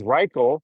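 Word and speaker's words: Rychel: But I was talking to the one Filipino, his name is Riel, which rhymes with Michael. R Y C H E L. His name is Riel.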